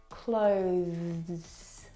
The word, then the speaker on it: clothes: This word has the th sound. Clothes. Clothe clothes. It's very short, but it's definitely there.